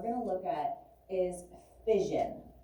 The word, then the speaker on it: fission: And so nuclear fission is the process of splitting the nucleus into two smaller nuclei of smaller masses. Right? Fission. Kind of sounds like the word division.